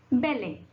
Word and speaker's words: ballet: Now, letter T can also be little sneaky and also be silent, like it. In the example, what is the example? Ballet. How you pronounce this? Ballet.